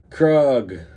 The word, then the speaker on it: Krug: faster which is funny kug rhymes with Thug Oh there right because